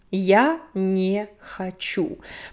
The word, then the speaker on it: я не хочу: Я не хочу. Pronunciation, я не хочу. Remember the vowel reduction of о and е. Я не хочу. So this last у is stressed.